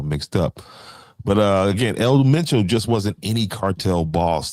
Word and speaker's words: El Mencho: And there's that gentleman's name right there, El Meno. Like I was just trying to pronounce, but that just got me all mixed up. But uh again, El Mencho just wasn't any cartel boss.